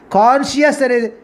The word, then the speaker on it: conscious: is a parent extreme conscious that is the we you put the phonetic script between the oblique conscious is a right pronunciation semi-conscious means what is